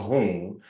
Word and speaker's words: hum: And then hum or hung, when you say hum with an M, you're putting a little ng there. Hung. When you're saying hung, H-U-N-G, you're putting an N, Right. So it's hum or hung.